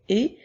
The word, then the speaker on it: et: important de bien retenir le mot et qui n'a que deux lettres la lettre E et la lettre T ce petit mot là nous le retrouverons dans plusieurs lectures dans plusieurs phrases alors il est bien important de retenir que la lettre E était lorsqu'elles sont toutes seules avec aucune autre lettre autour font le son et comme dans la phrase ma